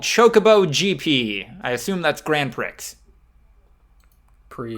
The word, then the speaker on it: Grand Prix: gp i assume that's grand prix grand prix grand prix the x is silent okay you can